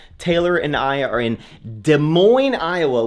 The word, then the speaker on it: Des Moines: Taylor and I are in Des Moines, Iowa, which feels like it should be pronounced Des Moines. It's like, where are the S's going?